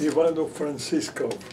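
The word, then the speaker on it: Ivano-Frankivsk: How's it pronounced? Ivano Francisco.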